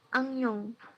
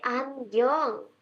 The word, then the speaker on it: 안경: Angyong. Oke, ini apa bacanya? Angyong. Angyong. 네, 안경.